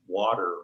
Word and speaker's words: water: i make that t i make the t almost like a d water water ah yes yeah and